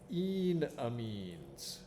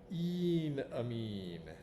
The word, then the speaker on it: enamine: class of molecules called enamines that's how we write it it is pronounced e amine don't say enamine that sounds like it's your enemy or or rather that